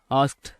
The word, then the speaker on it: asked: சரி, இப்போ கவனிங்க, இந்த ஆஸ்க்டு அப்படிங்க, இந்த ASKED, இது வந்து ஆஸ்க்டு அப்படின்னு உச்சரிக்க வேண்டாம், ஆஸ்க்ட் அப்படின்னு உச்சரிக்க வேண்டாம், வெறுமனே ஆஸ்க் அப்படின்னு மட்டும் உச்சரிச்சு பேசுங்க, சரிங்களா?